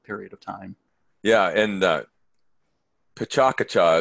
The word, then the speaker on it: Pecha Kucha: of time yeah and Pecha Kucha is what we call it here in but it has it's it's got the emphasis is on different syllables depending on who's telling you but here in the